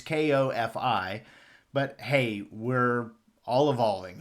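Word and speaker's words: Ko-fi: And thank you to Judy for correcting my pronunciation of coffee. It's Kofi, but hey, we're all evolving here.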